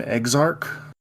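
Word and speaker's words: Eggzarch: all right I am I spell it e g g z-a-r-c-h ex-arc yeah that's pretty much what it is perfect uh all right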